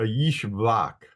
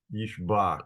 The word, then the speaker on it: Ishbak: So this is going to be a Yishbak. Yishbak. So if a name starts with a capital letter I, it's probably a Y sound.